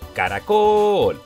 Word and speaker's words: caracol: Caracol. Fuerza de voz en col. Última sílaba. Por lo tanto, es aguda.